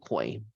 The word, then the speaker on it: Coi: so let's see what comes up for um koi I actually like the name it's spelled c-o-i and then larae l-e-r-a-y she's got